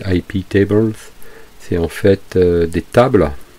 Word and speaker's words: iptables: pare feu iptables netfilter iptables s'est prononcé à la française dans ces hype et evans c'est en fait des